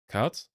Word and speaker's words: CAD: Cut. Like cut is how you would say it in German. Computer aided design. Cat. Oh, cat. Right. That's that's how you say it in English, I think.